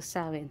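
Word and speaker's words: Samhain: sa mga ah nagce-celebrate ng samain Paano ba bigkasin yit saen so sawin so sa mga nagce-celebrate ng sawin happy sawin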